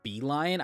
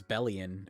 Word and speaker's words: Belion: Also, it's pronounced Belion. I thought it was belly in.